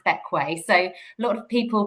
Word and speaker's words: Bequia: So, first things first, um, how to pronounce Bequay. So, a lot of people pronounce it bequer, but it's actually pronounced bequay despite being spelled like bequer.